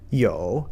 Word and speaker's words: 有: Yo, the third tone, a little harder to pronounce if you're just starting Chinese.